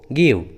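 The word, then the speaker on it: give: जैसे hope, गिव, love, गेव, देखिए सभी इंग्लिश वर्ड्स में ई एकदम लास्ट में है, इसलिए ई साइलेंट है, ई का उच्चारण नहीं किया गया है।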